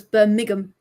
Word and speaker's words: Birmingham: So, it's Burmigum. Migum City. Uh, to compare, that's pretty much the way locals say it. Birmingham.